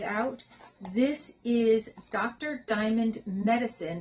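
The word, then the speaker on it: MetaCine: Diamond Medicine. It's spelled M T A C I N E. So like meta.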